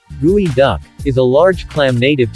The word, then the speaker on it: geoduck: the gooey duck pronounced gooey duck is a large clam